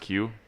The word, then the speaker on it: queue: Have you ever looked at the word Q? Oh yeah, it's like Yeah. Q-U-E-U-E. It has like 4 silent letters.